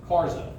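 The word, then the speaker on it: Karge: It's spelled like Cards, but it's pronounced Karza, K-A-R-Z-A, Karza.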